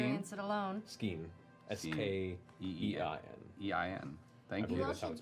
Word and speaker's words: Skein: And I'm not gonna third- let my What's it friend called, Scheme? experience it alone. Skein. S-K-E-E-N. Skein. EIN. Thank I you. believe that's how it's spelled.